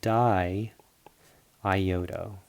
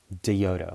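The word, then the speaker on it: diiodo: Just think about it in terms of like syllables, how you pronounce it. If you don't have the second I, you're going to pronounce it like diodo or something like that, or diodo. So it's be di iodo.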